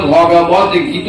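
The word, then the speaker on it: ভগবদ্গীতা: করতে পারলেন সংক্ষেপে গীতা কিন্তু আসল নাম ছিল শ্রীমদ ভগবত গীত উপনিষদ ভাগবত গীতা নয় ভগবত গীতা ভাগবত গীতা বলে মানে আলাদা হয়ে যায় ভাগবত একটা আলাদা মহাপুরাণ আর শ্রীমদ ভগবত গীত উপনিষদ গীতা শব্দটি স্ত্রীলিঙ্গ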